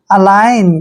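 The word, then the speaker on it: align: एल आई जी एन दोस्तों ये ध्यान रखना है कि एन से पहले अगर जी आता है तो जी वहां पर साइलेंट होता है यानी कि हमने वहां पर जी का उच्चारण नहीं करना है ए का उच्चारण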